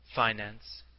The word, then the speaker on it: finance: The pronunciation of this word, with the I long and the accent on the first syllable, is one of America's most precious discoveries and possessions.